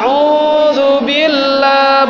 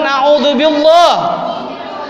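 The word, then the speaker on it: أعوذ بالله: Auzubillah. Bukan azubillah. Kalau ada orang ketemu baca begitu, tegur. Maaf Anda salah bacanya. Yang benar auzubillah bukan billah.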